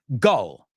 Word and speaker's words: gull: Gull. Gull. Gull rhymes with dull, aburrido.